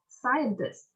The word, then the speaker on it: scientist: Mấy cái từ này bạn nhấn các bạn, ví dụ như number 1, scientist thì mình sẽ nhấn âm nhất, scientist.